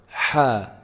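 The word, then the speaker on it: ح: tongue for our ladder ha how do we say it we should be feeling some vibration in the middle part of the throat if you put your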